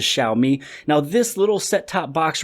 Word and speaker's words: Xiaomi: name of shall meet a lot of people state exami but today I just wanted to correct it and state it the correct way which is Xiaomi now this little set-top